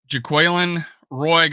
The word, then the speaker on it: Jaquelin Roy: But Jaquelin Roy, got the proper pronunciation now.